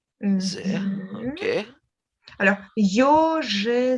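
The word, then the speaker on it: Ё: y, mais avec deux points, et on le prononce comme yo, Yo.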